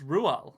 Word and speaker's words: Roald: rolled Dal Dal apparently it's Ru is the correct pronunciation is it yeah it's Norwegian um but I think it's just at a stage where English people just say rolled cuz it that makes sense to us written